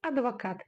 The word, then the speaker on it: адвокат: Но так как это слово заимствовано из русского языка в казахский, мы читаем его именно как оно звучит в русском языке. Адвокат через букву А.